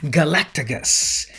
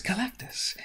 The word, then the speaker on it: Galactus: used to call him when i was a little kid now i know better that his name is galactus um and so yeah